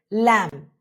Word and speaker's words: lamb: Now B goes quiet when it follows M at the end of a word. Think of the word lamb.